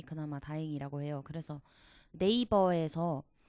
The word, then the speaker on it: 네이버: 했을 때 대부분이 이제 정직한 한국식 발음으로 네이버 라고 하지 뭐 네이버 얼마 이렇게